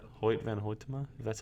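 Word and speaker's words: van Hoytema: let me look it up real quick white van pointa MA oh wait van ho Tamar that's how you say his name the two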